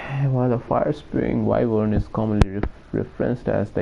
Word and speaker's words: wyvern: is it one can you repeat please that's pronounced wyvern can you repeat please that's pronounced wyvern why